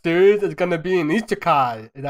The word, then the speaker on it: Isekai: Well, our next podcast series is gonna be an Isekai. Is that how you pronounce it?